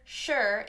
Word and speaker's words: sure: with the sh is even though sure is spelt only with an s it has that same sh sound sure sure sure you